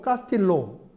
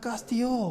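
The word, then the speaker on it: Castillo: 이제 카투라, 카스티오 이렇게 얘기를 하는데 뭐 참고로 이걸 카스틸로 아니에요. 그냥 L 발음은 그냥 요 발음으로 합니다. 스페인에서는. 그래서 저도 처음에는 산지에 가서 옛날에 야 카스틸로 했더니 못 알아들어요. 그래서 써줬더니 카스티요 그러더라고요.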